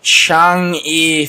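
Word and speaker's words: Chang'e: they they launched the Changi for mission those gold I don't know how to pronounce this is how it's pronounced phonetically spelled Chang apostrophe e for mission and it's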